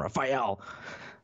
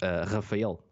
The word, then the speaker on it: Rafael: But the thing is, in Portuguese, it's not that much of a difference. It's Rafael. It's a really strong name per se to pronounce, especially in English.